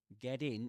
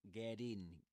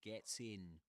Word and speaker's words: get in: So get in is usually pronounced with a flap T in American English. So it sounds like a D. You know, it's like get in, rather than gets in, as in British English.